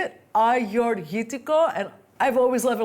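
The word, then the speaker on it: Agiorgitiko: Learn how to say it, Agiorghitiko, and I've always loved a little trick, which is Agiorghitiko.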